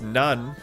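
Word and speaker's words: なん: like that's like easelin the kanji for south is pronounced none in compound words which reminds me of naan bread which is from South Asia.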